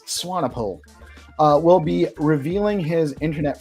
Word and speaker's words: Swanepoel: How do you pronounce it's Swanepoel.